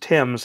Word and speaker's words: Thames: River the River Thames we would say the River Thames it's pronounced Tim's however the bridge is